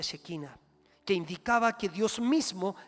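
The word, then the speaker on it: Shekinah: griego en el perdón en el hebreo se pronuncia chequina que indicaba que Dios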